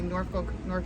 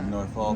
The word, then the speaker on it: Norfolk: If you say folk, you're wrong. Yeah, it's what? It's Norfolk. Norfolk.